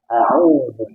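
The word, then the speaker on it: أعوذ: Saya membacanya a'udzu. Aku berlindung. Kalau saya keliru dal jadi dal, a'udzu itu badan. Itu artinya jauh berbeda.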